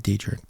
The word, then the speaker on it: Dietrich: Yeah, Dietrich. From Marysville, Pennsylvania. The night Dietrich arrived, the radio operator woke me up and told me there was a new soldier there. My first impression of Dietrich was solid.